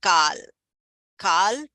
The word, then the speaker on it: kala: So here although this is written as kala k a l a uh kala means black kal it should be pronounced as kal kal purusha.